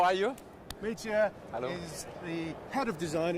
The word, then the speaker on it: Mitja: Mitja is the head of design at Lamborghini Centro Stile. Did I pronounce that correctly? Yes, Mitja?